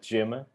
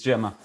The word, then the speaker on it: Gemma: the commercial director at Jim I'm not sure I'm pronouncing the name of the startup right Francis yeah it's it's correct it's Gemma so perfect as Portuguese as it can be so can you